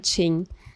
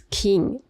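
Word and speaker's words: Qing: El origen de templo se remonta a 1746 durante la dinastía Chin. Bueno, Chin según su pronunciación en inglés es king, pero en chino ese carácter se pronuncia chin.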